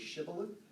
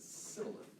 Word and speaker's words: shibboleth: a scene shift, because there's one letter in Hebrew that can be sh or s. It's the same letter, and it just depends on which side the one dot is on how you say it. And so that is why in the book of Judges that the password was shibboleth, because some people in the Semitic culture said sibboleth.